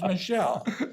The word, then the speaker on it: Michel: Michel Furtado, and how you pronounce, because he's French and it's Michel. But having those two dentists